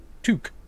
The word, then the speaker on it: toque: Pronounced toque.